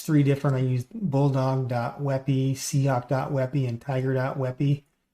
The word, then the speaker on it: WebP: or a wey or it's webp but pronounced wey but any case you'll